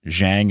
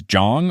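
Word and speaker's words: Zhang: his grandma staying that Jong men don't whine multiple people wrote in to let me know that it's not Jiang it's Jong almost like a j and then a long a do you have experience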